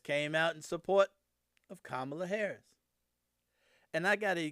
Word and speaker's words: Kamala: think I told y'all, somebody jumped on my case because I was calling her Kamala. It just spelled like Kamala, so that's how I was saying it. So I'm going to say it like it's supposed to be, Kamala Harris.